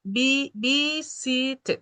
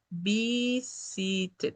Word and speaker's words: visited: Visited, ¿no? Visited. Tiene tres sílabas.